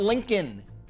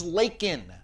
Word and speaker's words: Laken: Lincoln Riley of course her name is not Lincoln it's Laken hell it's on the